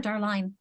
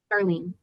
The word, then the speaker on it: Darlene: And is it pronounced Darlene or Darline? Darlene.